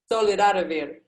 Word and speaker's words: Solidarivir: Yeah, in Portuguese, we would call it Solidarivir. Solidarivir.